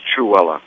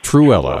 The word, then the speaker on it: Trewhella: It's Trewhella. Trewhella, all right. Like Cruella de Vil, just Trewhella.